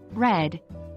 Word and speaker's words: read: read the past form of read is pronounced like red even though the spelling doesn't change 3.